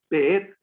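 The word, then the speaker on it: בית: Esta palabra es beet. Ajá. Beet, ¿verdad? Con acento en la et. Beet. Beet, recuérdense que cuando no llevan el acento ortográfico milel, que es esa L invertida, entonces es milra. Es decir, no se escribe, pero la sílaba tónica siempre es la última.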